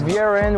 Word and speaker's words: Vieren: Yeah, Vieren, I pronounced it properly?